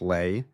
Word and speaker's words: Lay: Within 12 months, Houston Natural Gas's chairman, a 43-year-old economist named Kenneth Lei, LII rhymes with pay, had maneuvered himself into running the combined company.